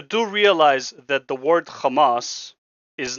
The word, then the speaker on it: Hamas: That's how you say their name. It's Kamas. I'm sorry you can't pronounce the inas, but that is literally their name. Kamas.